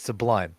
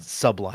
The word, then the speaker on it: Sublime: It's Sublime, not Sublime.